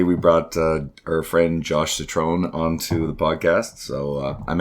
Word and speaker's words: Citron: Today's guest is, I better pronounce it correctly this time, Josh Citron, as in Megatron.